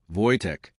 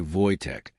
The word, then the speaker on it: Wojtek: My name is 3 syllables, Wojtek. If Americans can say Schwarzenegger, they can say Wojtek.